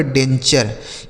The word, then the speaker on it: denture: DENTURE, तो DEN से हो गया दोस्तों डेन, और TURE का उच्चारण चर, यह लिखा गया आपका डेंचर।